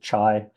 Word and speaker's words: chi: like the Greek letter Kai Chi some people pronounce it chai uh but it's sort